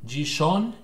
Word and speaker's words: Gijón: Well, anyway, right at hour 12, so over here, we got the town called Gijón, as you say. I don't know how you pronounce that in English, actually. Gijón, because it's Gijon.